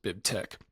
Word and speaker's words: BibTeX: It's a chi or a key in in Greek, so that's why we pronounce it Bib Tech.